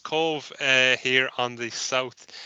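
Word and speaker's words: Cobh: one of Cove and probably the most mispronounced uh town in Ireland itself often called cob H we'll hear it so it's Cove uh here on the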